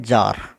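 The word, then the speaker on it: czar: नहीं बोला जाता ऐसे एक शब्द है जार जिसका मतलब है राजा इसमें सी नहीं बोला जाता हूं निमोनिया है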